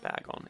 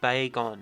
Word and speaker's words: Bagon: to share with you it really irks me when people call it back on it's Bagon it's baby dragon it's Bagon if you're gonna mispronounce it say bacon because at least you'll have that part correct anyway that's just something